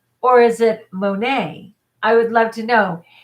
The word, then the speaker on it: Monat: do it, Juliana, or mo and then nay, like nay. Tell me which one, and then I'll know how to pronounce it. Monat or Monet? Monet. Ooh, it's Monet. But it's definitely nay.